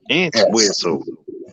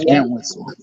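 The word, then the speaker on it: Entwistle: her last name okay I'm spell it I'mma spell it e n t w s t l e an whistle yeah an whistle Peg ant whistle hey name what or P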